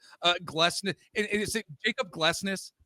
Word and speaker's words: Glesnes: And is it Jacob Glesnes? Glesnes, yeah.